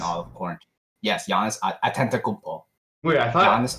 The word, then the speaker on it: Antetokounmpo: Yes, Giannis Antetokounmpo. Wait, I thought Giannis Antetokounmpo. Antetokounmpo. Do you need me to spell it for you?